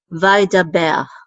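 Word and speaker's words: וידבר: So this says da, vai da, and then a bet with its tzere, and then the resh together. The tzere says so this is ber, vai da ber.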